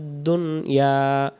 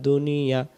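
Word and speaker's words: دنيا: যদি দুনিয়া হয় দাল পেশ দু নুন জেনে দুনিয়া জবর ইয়া দুনিয়া, বাংলাতে আমরা দুনিয়াতে বলি, কিন্তু আরবিতে সঠিক আমরা যদি উচ্চারণ করতে যাই, পেশ সাকিন এবং জবর মিলে দুনিয়া।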